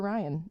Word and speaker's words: Rion: So, and we actually named her Ryan after him because of that, and it's spelled Rion, like the constellation.